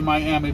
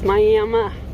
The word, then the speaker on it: Miami: in here in Miami Oklahoma and don't say Miami because the people here get mad if you say Miami even though it's spelled Miami it's Miami so we're running for who knows how long